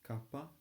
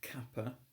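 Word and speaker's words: κάππα: a soft spoken language another example is Kaa which is the um the word for another letter it's not Kappa it's Kappa it's quite a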